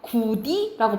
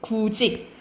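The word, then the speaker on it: 굳이: 그래서 대표적으로 우리가 이거 구디라고 발음 안 하고 어떻게 돼? 구지.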